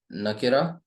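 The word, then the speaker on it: نكرة: इसे पढ़ेंगे नकीरा, और इसे पढ़ेंगे मारिफा, ठीक।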